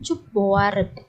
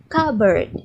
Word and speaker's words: cupboard: Ini dibacanya bukan cupboard ya, tapi dibacanya cupboard. Oke.